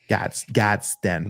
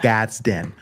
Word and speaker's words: Gadsden: Gadsden. Make sure I pronounce that second D correctly. Yeah. Gadsden.